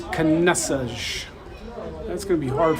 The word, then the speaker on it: Caneças: I've grown up my whole life with my mom and dad saying Caneças, not Caneças. So I've just learned that proper pronunciation is Caneças.